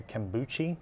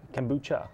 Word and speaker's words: kombucha: gold level sponsor uh they may make a kuchi drink I think I pronounced it right yes it is yeah I think it's Kucha kombucha yeah there we go that's for my son